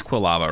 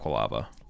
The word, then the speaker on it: Quilava: Oh, it is Quilava, right? Yeah, it is Quilava, not Qualava.